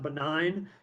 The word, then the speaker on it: benign: This word is pronounced benign. You know that, your students may not, because there's a G in there that we don't pronounce.